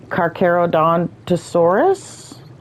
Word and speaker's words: Carcharodontosaurus: Carcharodontosaurus, I believe is how it's pronounced correctly.